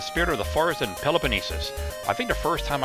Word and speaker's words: Peloponnesus: I was like Peloponnesus or something, like, or Peloponnesus or something like that. I was like, what? That's not right. That's not enough syllables. It's Peloponnesus.